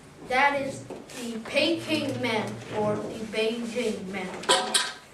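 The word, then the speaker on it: Peking: H that is the pay King men or the Beijing men pay King sounds like the combination of pay and King and as you know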